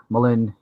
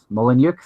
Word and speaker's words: Mullenix: name for me mate ah mo Lin M'Lynn wow that is Mullenix I'm so sorry I've mispronounces you totally hey I won't embarrass